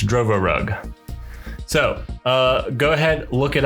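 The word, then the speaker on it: Drovorub: But in actuality, the fancy bear did release a rootkit called, I don't know how to pronounce it, Drovorug. It's Drovorug.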